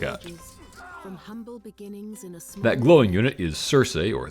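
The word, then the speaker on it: Circe: that glowing unit is Cersei or the Greeks would have pronounce it more like Kirk from The Odyssey who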